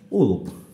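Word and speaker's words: wolf: উল্প, অর্থাৎ উ উচ্চারণ হচ্ছে কিন্তু উল্প, ওল্প নয়, উচ্চারণ হবে উল্প।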